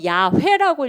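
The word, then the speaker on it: 야훼: 그래서 그냥 우리 성경에는 여호와라고 부른 사람들이 있고 또 그 점을 갖다가 몸을 어떻게 해서 야외라고 읽어야 된다고 하는 사람도 있어요 그래서 여러분들 성경을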